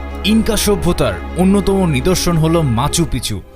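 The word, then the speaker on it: Machu Picchu: Inca সভ্যতার অন্যতম নিদর্শন হল মাচু পিচু। অনেকেই এটিকে উচ্চারণ করে থাকেন মাচু পিচ্চু হিসেবে, যার অর্থ হল পুরনো চূড়া।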